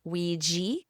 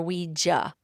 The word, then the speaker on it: Ouija: It's either Ouija or Ouija. I like to say Ouija just because that's what I'm familiar with, but it can be pronounced either way.